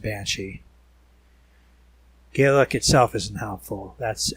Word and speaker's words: Bainsidhe: more like elsie bane cp for example is pronounced banshee gaelic itself isn't helpful